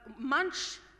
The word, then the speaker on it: मंच: its Essence primarily uh Munch of course all Indians will understand Munch is uh a platform unlike the munching bit that you have phonetically the same word uh in English but